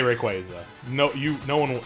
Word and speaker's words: Rayquaza: you know it's like Rayquaza is actually Rayquaza is the official is the official correct way to pronounce it that's something you know